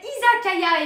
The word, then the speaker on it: Izakaya: Ah bah Blaze, ce qui est sûr, c'est que t'as encore des progrès à faire, parce que ça s'appelle Izakaya et pas Iyakaza.